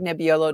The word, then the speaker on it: Nebbiolo: And that's my dog Nebbiolo. Nobody can pronounce that either. Nebbiolo.